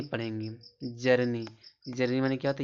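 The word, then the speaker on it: journey: यहां जर्नी पढ़ेंगे। जर्नी, जर्नी माने क्या होता है?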